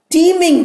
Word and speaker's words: teeming: So the brain is often teeming with ideas. Teeming is not T-E-A, it is T-E-E-M-I-N-G. Team T-E-A-M and team T-E-E-M are homophones. Homo means same, phone means sound. So the sound, the pronunciation is same, but spelling is different, meaning is also different.